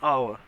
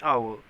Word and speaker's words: hour: is not vowel but in this case an hour h is silent it is giving the